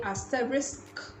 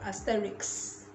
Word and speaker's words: asterisk: it just takes practice so you say asterisk asterisk instead of asterix just like you say ask ask instead of axe next let's talk about